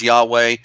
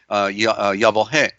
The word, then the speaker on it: Yahweh: of course is Yahoo they mispronounce this Yahweh in here in the Aramaic it is Allah Allah hey but but correctly it should be yah whoa hey and we find it